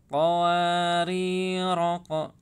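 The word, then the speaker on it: قَوَارِيرَا: Ini menandakan bahwa alif ini dianggap tidak ada ya. Jadi dibacanya qawarira.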